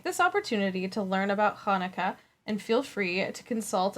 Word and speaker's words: Hanukkah: the following in mind the first h in hanukkah is pronounced with a guttural sound that is similar to the sound in lach so hanukkah close yeah hanukkah not everyone can do